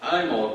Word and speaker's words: Imbolc: Now, to blend that with the topic today, I was just looking up Imol, which is Gaelic for this St. Bridget. It's the Gaelic pronunciation. It's spelled Imbolic, right? Imbolc, right?